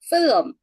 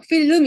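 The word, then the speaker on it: film: 된다는 얘기예요 아네네 그래도 필 필럼 필럼 이거 마셔 필럼 이래 우리처럼 필름 이렇게 하시면 안 되고요 얘는 얘는 그리 얘는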